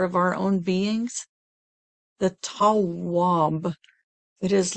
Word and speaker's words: Tawwab: It is, we've used it before, it is Hawab, and the transliteration is spelled T as in Tom, A, W, W, A, B as in boy. T, A, W, W, A, B. Tawwab. Tawwab.